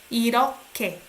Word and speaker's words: 이렇게: You sound like K here. Okay? 이렇게. H and G sounds like K.